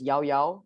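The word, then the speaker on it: llaollao: shopping malls around malaysia it's a frozen yogurt from spain and it's pronounced as yao yao apparently over here you see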